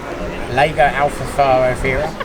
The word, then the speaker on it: Lago Alfarofia: So I would say if you're coming down and you're going to fish Alfarofia, Lago Alfarofia. How do you pronounce it? Lago Alfarofia.